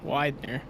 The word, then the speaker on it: Widener: got Ryan Steele and how did you say his name last week Widener Widener right yes yes Widener Widener let me go